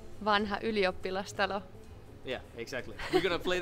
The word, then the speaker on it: Vanha Ylioppilastalo: The venue is really, really hard to pronounce. What's it called? Vanha Ylioppilastalo.